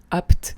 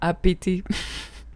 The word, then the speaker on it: Apt: Sachez que j'ai appris plus tard que cette ville qui s'écrit ABT se nomme en fait apte et non pas APT.